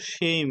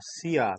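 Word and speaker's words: しゃ: পুরো ছকটা দেখলাম, তাহলে এই ছক অনুযায়ী এটার উচ্চারণ হওয়ার কথা ছিল সি ইয়া, সিয়া, তাই না? এমনটাই কি হওয়ার কথা ছিল না? এইটার উচ্চারণ কি এইটা হওয়ার কথা ছিল না? বলেন তো, এটা হওয়ার কথা ছিল না? কিন্তু এই শিয়া উচ্চারণ না হয়ে এটার উচ্চারণ হবে শুধু সা।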